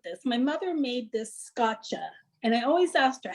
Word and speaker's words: scacce: My mother made this scotcha, and I always asked her, how do you spell it?